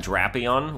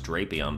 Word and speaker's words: Drapion: good then we got drapion which I always thought was drapion but it's not it's drapion and I'm I don't know